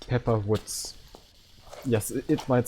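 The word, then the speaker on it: Wutz: Yes, it might sound strange, but in Germany, it's Pepper Woods. It's something really funny. They completely didn't translated the name into something different. Dude. Yeah, it's a typical German pronunciation. It's spelled W-U-T-Z.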